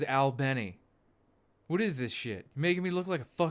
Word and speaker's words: Albany: the people of the city of Albany like many I mean wait a second why are they pronouncing it like Albany New York I thought it was Al Benny what is this [